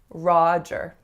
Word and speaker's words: Roger: The most common mistake I hear in this name is that the ah is not ah enough. So you guys are spotting the trend now with the name John and the word Connor. So make sure your ah sounds are really resonant, that they really are a low back vowel that creates some space in the back.